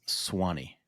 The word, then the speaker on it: Sewanee: And the U is silent. It's Swanee.